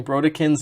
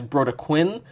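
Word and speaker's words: Brodequin: to realize realized that I was pronouncing bro kin's name wrong as bro Quinn uh this is a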